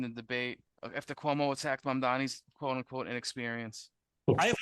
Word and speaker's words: Mamdani: And furthermore, the name is Mamdani, Mamdani.